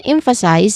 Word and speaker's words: emphasize: When it comes to pronunciation, emphasize is the first word which has three syllables. We stress on the first syllable here which is m. There's um a short e vowel sound in there. And then followed by fu fu. Then the second syllable which is soft and then it ends with size. The third syllable which is a clear i dip thong sound and a buzzing sound at the end.